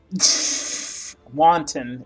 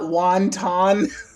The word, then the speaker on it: wanton: Wanton is what you mean. That's right. I'm not wonton.